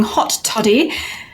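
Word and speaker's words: Haute Toddie: tonight i'll be playing hot toddy not the way you think it's spelled h-a-u-t-e-t-o-d-d-i-e and i'm a human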